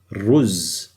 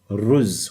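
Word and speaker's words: رز: If I add a re with a z, it's pronounced as ruz. Now notice there's this little u in there. That means there's a little bum over here. So it's ruz, which means rice.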